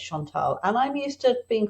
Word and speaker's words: Chantal: here with you today I pronounce my name Shantal my my mom was not French but named me after a little French girl called Mari Shantal so I like to say it's Shantal and I'm used to